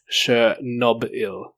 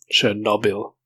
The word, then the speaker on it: Chernobyl: I could tell it's sure Nob Hill like B belongs to the second syllable not the third syllable as a lot of people pronounce it should know bill no bill accident